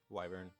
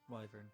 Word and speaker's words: wyvern: How do you guys pronounce Wyvern? that? Wyvern. Wyvern.